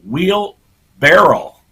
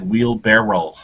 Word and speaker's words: wheelbarrow: my whole life uh wheel barrel is is how I always pronounced it but uh yeah I got Googling after seeing this mayor's name wheel barrow my whole life pronounced it wheel barrow all righty it's the